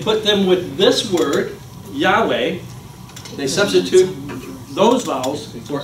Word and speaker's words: Yahweh: And so we believe today that it is pronounced Yahweh. Or if you can't say the W, pronounce it as a V. It's Yahweh.